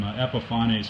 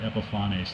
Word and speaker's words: Epifanes: So what I did is I did a real brief test of some Epifanes varnish. Just a note on that, I actually asked a rep, and they did pronounce it Epifanes, not Epifanes.